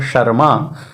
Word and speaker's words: शर्मा: यदि कोई लिख रहा है शर्मा तो शर्मा में र पहले बोल रहे हैं, माँ बाद में बोल रहे हैं, लेकिन लेखन में वह म के ऊपर रेफ लगता है।